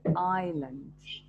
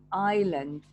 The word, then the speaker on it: island: say iceland we say island the s here is silent island in the pacific so